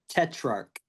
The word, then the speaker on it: Tetrarch: It is Tetrarch. So, it's uh the ch at the end makes a K sound.